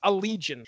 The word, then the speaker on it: Allegaeon: call again yeah you do but it is pronounced Allegiant alligator's homosexual aliens oh that's uh that's that's